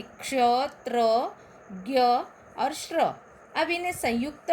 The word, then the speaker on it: ज्ञ: हम मराठी में ज्ञानेश्वर कहते हैं, लेकिन हिंदी में ज्ञानेश्वर कहना है, ज्ञानेश कहना है। इसलिए ज्ञ का उच्चारण करते समय हमें पहले द्य और बाद में न का उच्चारण होता है।